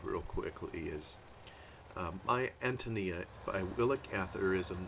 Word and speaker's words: Antonia: as I understand it there's a heavy stress on the a uh I'd probably be tempted to pronounce it Antonia or something like that